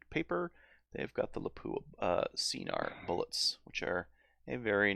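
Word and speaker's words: Scenar: It's pronounced Yeah. Cnar.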